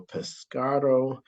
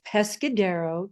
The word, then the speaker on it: Pescadero: Lynne has three grown children, two grandchildren, and is the president of the Pescado Foundation. And I probably mispronounced that, so I'll have her correct me.